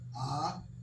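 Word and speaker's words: אב: If you say that's that's a B sound. The bait is a B sound. So if we put the al and the bait together, we pronounce it as ab.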